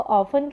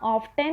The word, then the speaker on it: often: देखो ऑफन की स्पेलिंग में टी साइलेंट है, OFTEN है, पर टी को बोलना नहीं है, वो साइलेंट है, तो बोलना ऑफ्टन नहीं है, बोलने के समय पे उसे बोलेंगे ऑफन।